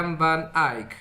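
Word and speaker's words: van Eyck: a hablar de Jean van Ey es la pronunciación corregían alguna de ustedes ya van aic aquí está luego aconteceli y con Sandro Botticelli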